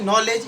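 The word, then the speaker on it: knowledge: तो नॉलेज क्या है? नॉलेज में भी के क्या है? साइलेंट है। क्यों? क्यों? क्योंकि एन के बाद वोवेल्स आख है। इसीलिए के साइलेंट है और नॉलेज का मतलब होता है जानकारी।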